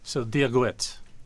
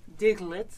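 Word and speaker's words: Dia dhuit: So Diagwit. Diagwit.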